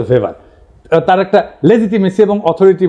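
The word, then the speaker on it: Weber: এটা ওয়েভার বলে অনেকে। এটা উচ্চারণ আসলে ভেভার তার একটা লেজিটিমেসি এবং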